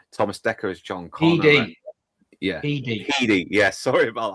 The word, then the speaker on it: Headey: Edie. Yeah, Edie. Yeah, sorry about that. You call her Headey.